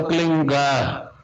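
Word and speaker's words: क्लीं: की मात्रा और बिंदी, इसका उच्चारण होगा क्लीन गा। गा की ध्वनि निकलेगी पीछे।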